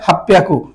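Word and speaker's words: 八百: ঠিক আছে, এর জন্য হাপ্পিয়াকু হবে, হাপ্পিয়াকু। হাঁচি হিয়াকু না বলে হাপ্পিয়াকু, এটা ব্যতিক্রম হয়েছে।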